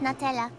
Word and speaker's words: Natella: It's actually pronounced Natella.